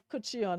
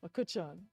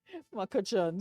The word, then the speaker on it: McCutcheon: And I've been catching my nenin to pronounce your surname. And it was told there was no, because yesterday I was like, Kuchion, and there's like, no, there's no Eon. It's just Makuchon. Makuchon.